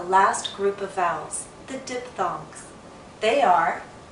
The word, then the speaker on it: diphthong: Pronunciation of English Vowel Sounds. Lesson 5. Diphthongs. Hello everyone. It's finally time to talk about the last group of vowels, the diphthongs.